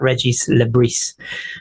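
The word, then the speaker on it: Régis Le: so many people have been asking the correct pronunciation of his name and it is in fact Reggie Le so um there you go you can show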